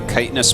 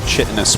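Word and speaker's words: chitinous: this it's so true the first time I said uh kitous plating out loud I called it chitus plating I used when met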